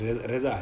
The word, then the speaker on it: رضا: ہے امام کو، رضا صحیح تلفظ رضا ہے، ہم رضا کہتے ہیں